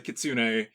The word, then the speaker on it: Kitsune: when it comes to our current topic um Kitsune excellent pronunciation by the way when I was a